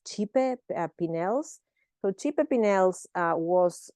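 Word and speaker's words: Cipe Pineles: uh designed by and I actually think you spend you pronounce this chipe pels so chipe pels uh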